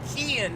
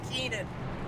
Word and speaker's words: Kian: Oh, Kian, not Keenan. I'm so sorry. I've been pronouncing Keenan this whole time. It's Kian.